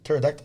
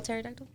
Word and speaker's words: pterodactyl: fly can you spell pterodactyl i can't it's what the p starts with the p does it yeah it starts with the p yeah there's a bow of p the p is silent pterodactyl that's crazy i'll